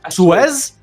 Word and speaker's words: Suez: Suez.